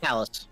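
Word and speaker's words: Talys: Marth lived and made it to the eastern isle of how to pronounce it again? Talus.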